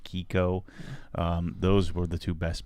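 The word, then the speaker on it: Chicco: and kiko ci chi cco chico but i think it's pronounced kiko those were the two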